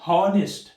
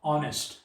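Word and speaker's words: honest: तो यहाँ पर अगर हम इसको प्रोनाउंस करेंगे हॉनेस्ट, हॉनेस्ट, तो आप भी वहां पर अ लगाएंगे, हॉनेस्ट, हो। लेकिन जब लोग इसको प्रोनाउंस करते हैं, इसको हेच से नहीं करते, हम प्रोनाउंस को ओ से करते हैं, ऑनेस्ट, ऑनेस्ट, ही is such an ऑनेस्ट मैन।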